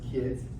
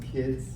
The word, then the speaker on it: KDZ: It's pronounced kids. It's pronounced kids.